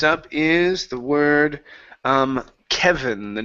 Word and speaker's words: Kevin: Next up is the word um Kevin. The name. Give me a good V sound here.